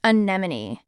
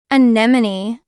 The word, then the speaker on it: anemone: of this word pseudo hypi hypi the correct pronunciation of this word is anemon anemone anemon it's a brightly colored sea creature resembling